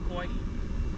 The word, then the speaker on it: Hawaii: Also in the Hawaiian language, when you see a W in the middle of a word, usually it's pronounced as a V. So that's why we say Ka'ava. What else word has a W in the middle? Hawaii. There you go. So we say Hawaii.